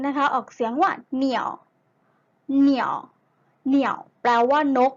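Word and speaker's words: 鸟: นก ภาษา จีน นะ คะ ออก เสียง ว่า เหนี่ยว เหนียว เหนียว แปล ว่า นก นะ คะ นัก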